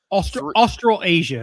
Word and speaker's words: Australasia: Australasia is how you say it.